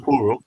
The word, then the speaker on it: Porro: Porro.